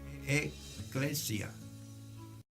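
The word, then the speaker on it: ekklesia: Como término hebreo, iglesia se pronuncia eclesia. E mayúscula, K mayúscula y la otra K mayúscula, L-E-S-I-A, eclesia.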